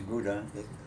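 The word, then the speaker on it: Gouda: i was born in which you would pronounce buddha where the cheese comes from it's crowded in the netherlands i was born april 1915.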